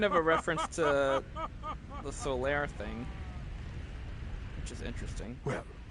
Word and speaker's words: Solaire: I swear to God, there's not a T in his name. Yeah, he's Solaire.